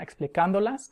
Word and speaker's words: explicándolas: Ellos las están explicando, o ellos están explicándolas, with the accent over the vowel before the NDO.